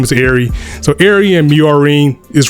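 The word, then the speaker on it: Miorine: instead of a rival, Miorin, or however, I think it's Miorin. I think that's the correct pronunciation.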